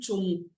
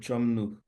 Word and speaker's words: Chomnou: Est-ce que c'est monsieur Chomnou ou Chomou? c'est Chomnou.